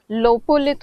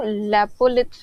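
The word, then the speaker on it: lopolith: में और पीपीटी में लोपोलिथ होगा वो लेपोत नहीं है लोपोलिथ इंग्लिश में तो स्पेलिंग सही लिखा हुआ है नोट्स में या पीपीटी में ले पोलित लिखा हुआ था तो उसको लोपोलिथ कहते हैं बेसिकली लोपोलिथ तो यह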